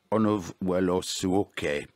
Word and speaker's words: Onovwerosuoke: That was a Raging River Dance, 24 Studies in Africa Rhythms by Fred Onovuelosuoke, played by Rebecca Omordia. How do I do in the pronunciation, Rebecca?